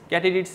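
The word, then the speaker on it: katydids: দৈর্ঘ্য প্রস্থে বড় হয় সেটার নাম হচ্ছে ক্যাটিডিটস ক্যাটিডিটস হিসেবে ওটা উচ্চারণ করেন এটার বাংলা আমি নিজেও খুঁজছিলাম গুগল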